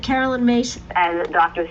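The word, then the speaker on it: Myss: And you said Carolyn Mace?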